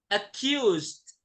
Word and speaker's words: accused: itu gimana Ustaz bacanya kalau ada Ed tergantung tergantung sebelum kata Ed itu apa Hurufnya apa Nah ini hurufnya S ya kalau ini jadi d-nya itu tidak terlalu jelas tapi ada jadi cuma kayak kolkolah aja